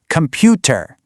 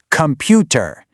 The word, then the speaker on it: computer: For example, in Indian English, you'll often hear the stress on the second syllable, computer. But in American English, that emphasis jumps right to the front, computer.